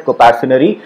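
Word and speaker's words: coparcenary: इसको हम लोग प्रोनाउंस करते हैं कंपैरिजनरी।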